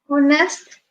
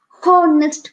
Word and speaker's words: honest: next or next boy honest boy you you won't pronounce as harnessed boy please bear in mind he won't pronounce as honest boy will pronounce has honest boy the h will be silent that's why we say